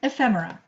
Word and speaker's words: ephemera: first way is um try to learn to pronounce it it's a difficult word lots of people have like really had a rough time with it but it's like fem ephemera and so we are